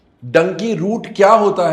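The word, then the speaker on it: Dunki: sink in people कि ये डंकी है नॉट टू be pronounce as धुन की इंग्लिश में डी यू एन के आई को धुन की ही एक्चुअली सेड यस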